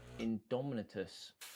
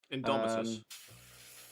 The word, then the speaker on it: Indomitus: Is there Is it Is it the Judica and then the other one from the Indominus box set? I'm definitely not pronouncing that correctly. Indomitus.